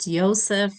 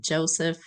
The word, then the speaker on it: Joseph: name is Joseph airam who preferred to say pronounced ysep not Joseph abam ysep abiam was